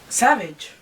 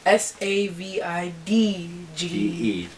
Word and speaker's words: Savage: Wait, let me say. Savage. It's Von Savage. Savidge. New interview with. What a way to spell it.